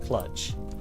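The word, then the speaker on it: kludge: kind of have to cluj something hello oh you pronounce the clutch i alternate i've said clutch i love clutch it's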